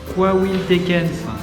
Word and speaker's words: Coahuiltecans: Alors, ça se prononce Coahuiltecans.